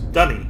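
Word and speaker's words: D'ni: constantly be referred to is dunny or Denise and it's actually spelled uh d-u-n-n-y dunny um but in the Australian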